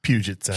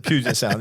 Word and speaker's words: Puget Sound: Just pronounce that, Sean. Puget Sound. Puget. Yeah, that's what Puget Sound.